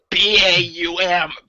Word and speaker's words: Baum: B-A-U-M. Baum. You pronounce the A before you do the U.